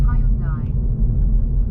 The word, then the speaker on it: Hyundai: That's pronounced Hyundai.